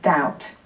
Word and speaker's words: doubt: So today I'm going to talk about some other silent letters, and I'll start with the B, the silent B that we get in things like debt and doubt.